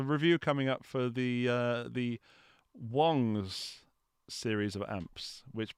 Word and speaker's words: Wong: coming up for the Wong's series of amps, which people refer to as Wangs. And now, hopefully, with Shang-Chi, people will actually know how to pronounce Shang and Wong rather than Wang.